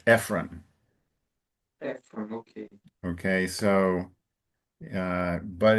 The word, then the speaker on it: Ephron: The name of the gentleman, I think in English, instead of Ephron, it's Ephron. Ephron.